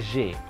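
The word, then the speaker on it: j'ai: Itu adalah J. Ada AI berbunyi E. Ini dibacanya J.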